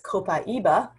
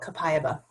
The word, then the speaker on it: copaiba: have heard about copaiba some people might pronounce this copaiba but through the session today i'm going to call it kapayaba kapayaba works in the